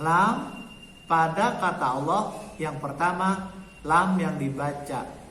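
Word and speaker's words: الله: Jadi lam pada kata Allah dibaca tebal atau tafkhim kalau sebelum kata Allah tanda bacanya a.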